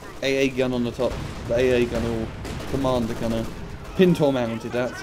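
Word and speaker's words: pintle: Pintor mounted, that's how you say it.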